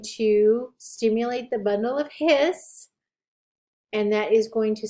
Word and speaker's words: His: and the bundle of hiss only one s when you spell it remember it sounds like two s's sounds like you're hissing like a snake but it's only one